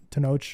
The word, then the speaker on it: Tenoch: itu Mama Tom bien there's a guy named tanache tenoch and that's how they pronounce it yeah so to know has been